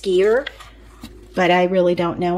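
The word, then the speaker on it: skyr: I think it's pronounced skier but I really don't know on that which why it might be sky but I think it's skier you guys let me know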